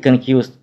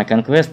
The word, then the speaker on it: Conquest: hit conquest 1980 года иногда его произносят как конкурс но правильная скорее конечно conquest так вот именно этот